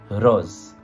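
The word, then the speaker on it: रोज़: Une façon très simple de le résumer en hindi, c'est juste R-O-Z. Rose, rose, rose, rose. Pas rose, hein, j'ai mal prononcé. Rose, rose, ok?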